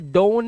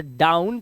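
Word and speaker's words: down: इसी तरह से डाउन इसे डोन नहीं पढ़ते इसे डाउन पढ़ते हैं क्योंकि आपने देखा ओड के बाद ए है और हमारा एल है तो जब एल हो या n हो तो आऊ का साउंड निकालना है शक्ति कपूर याद रखना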